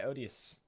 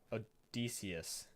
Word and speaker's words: Odysseus: with gala T and was eventually blinded by odious Odysseus that's how you say it these cyclopses were